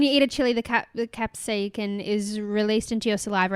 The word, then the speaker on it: capsaicin: That burning sensation is mainly caused by a chemical called capsaicin. Capsicum. Well, it's not spelled like capsicum. Oh. So I don't know. But it looks a bit like it. It's CAPSAICIN. Capsaicin.